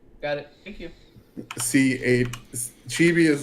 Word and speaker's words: chibi: that's what you saw is it c-h-i-v-i that's chibi that's chibi though okay okay got it thank you see chibi is like the little versions of people yeah